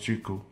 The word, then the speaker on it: Qiku: So, Qiku, it's pronounced Qiku.